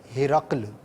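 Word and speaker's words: ہِرَقْل: ہے وہ توجہ گئی، تو اس کا صحیح تلفظ ہے ہرقل، ہا کے نیچے زیر ہے، را پر زبر ہے، اور جو دو نقطے والا قاف ہے وہ ساکن ہے۔ ہرقل جو ایک لشکر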